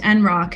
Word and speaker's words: NROC: The NROC, pronounced NROC internally, is a little discussed